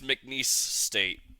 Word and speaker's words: McNeese State: I don't even know how to pronounce this. MC State, I think that says MNCESE State. It's McNeese State is McNeese State.